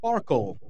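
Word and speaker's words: SPARQL: wikidata dorg and that will take you to a query system that uses a language called SP Sparkle Sparkle spelled with a Q uh this language is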